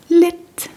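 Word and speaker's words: lidt: And if you're not completely confident, you can also say yeah lit which means yes a little.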